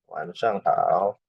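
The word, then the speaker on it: 晚上好: Ini misal laoshi wansang hao. Laoshi wansang hao ini cara bacanya gini.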